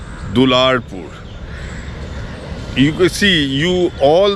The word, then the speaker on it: Dularpur: still stands today but kapala is a very badly mispronounced word very badly mispronounced word the word is actually dularpur you could see you